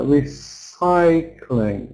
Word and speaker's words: recycling: And then more like that with on the second syllable. For example, uh recycling. Recycling. Mhm. Recycling. It's so important to get the stress correct because if you set